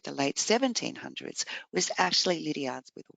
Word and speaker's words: Liddiard: y's and E's example in Australia we actually pronounce it Lydia if I go back to Auburn pronunciation is Lydia so you can hear